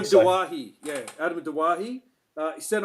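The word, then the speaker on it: Doueihi: Adam how's it pronounced now? Dewey? Yeah, Adam Dawahi.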